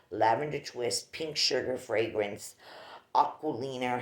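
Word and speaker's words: Aquolina: This is the famous sugared lavender twist, pink sugar fragrance, Aquilina, how it's pronounced.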